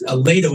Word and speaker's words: Lehto: And that Lato is spelled Lehto.